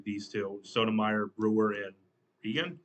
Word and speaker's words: Kagan: Is that how you say her name? I'm trying to figure out how you say her name. I keep forgetting how you say. Justice Roberts, Kagan. That's how you say her name. Kagan, Justice Kagan.